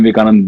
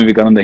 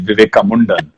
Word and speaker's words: Vivekananda: I don't think Swami Vivekananda hated anybody. And Swami Vivekananda, Unless he heard Donald Trump pronounce his name the way he did, Vivekamundan, which gave me all